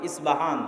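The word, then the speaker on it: اصفهان: আমরা প উচ্চারণ করি ইস্পাহান আরবিতে এটা উচ্চারণ হয় না আরবিতে হয় আল আসবাহানি বা উচ্চারণ হয় ইসবাহান বা আসবাহানি সেখান থেকে 70 হাজার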